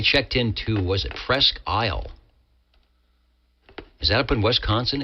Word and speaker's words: Presque Isle: That's There's a great SDR up there in Presque Isle. P R E S Q U E. Presque Isle. I might be pronouncing it wrong up in there in uh Wisconsin.